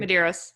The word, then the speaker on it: Medeiros: Justin, I can't pronounce his last name. Medeiros, is that right? Did I get that right? Medeiros, yeah.